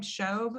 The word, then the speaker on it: Shobe: Is your last name Shobe? Is that how you pronounce it? Okay. It is. Julie Shobe.